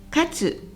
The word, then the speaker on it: 活: 勝つと読みますよね。